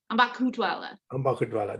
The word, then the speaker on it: Ambakhutwala: It's Ambakhutwala. Ambakhutwala. That is such a good pronunciation of my name.